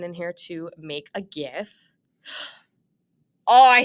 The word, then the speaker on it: GIF: also a function in here to make a GIF.